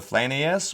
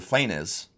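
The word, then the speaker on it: Flanaess: The Flanius, pronounced the Flanius or the Flanes, is another name for Eastern Auric and means the land of the Flan.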